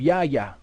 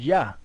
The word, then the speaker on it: Yah: there's certain places where the name of the Most High is pronounced Yah. You know, it was a shortened form of the Most High's name.